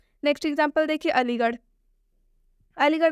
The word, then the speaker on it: अलीगढ़: अलीगढ़ में भी आर और एच आया है, इस आर एच का उच्चारण ढ से होगा।